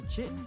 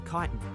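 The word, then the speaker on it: chitin: It's either Chittin or Kitan.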